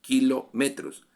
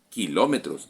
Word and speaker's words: kilómetro: Entonces será decametros hectometros kilometros Ah pero la palabra dicha en español tiene el acento en otra vocal así kilómetros hectómetros decámetros megámetros hexámetros terá metros Sí pero en la